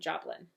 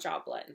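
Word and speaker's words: Jobelan: Everyone told me how to pronounce that correctly on my last video. Clearly pronunciation is a thing with me. And I think that's what everyone was saying, Joblin. So that's what we're going with.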